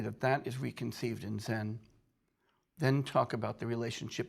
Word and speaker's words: Zen: of the Chon or Zen tradition once again Chan is the Chinese pronunciation Zen is the Japanese and by the way